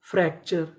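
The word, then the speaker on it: fracture: एफ आर ए सी फ्रैक टी यू आर ई चर फ्रैक्चर फ्रैक्चर फ्रैक्चर का मतलब होता है हड्डी का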